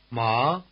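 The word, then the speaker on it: 骂: tone word hemp and the fourth tone or falling tone word to scold Ma ma again hemp and to scold Rising versus falling ma ma you can see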